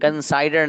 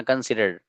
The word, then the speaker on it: considered: कंसाइडर नहीं, इसका pronunciation सही करना, कंसिडर्ड।